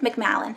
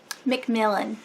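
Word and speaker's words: Macmillan: under MC McAllen McMullen McAllen I think that's how you say the publishing house so yeah this is definitely not part of the four major publishing companies so I can't wait read it McMillan is how you say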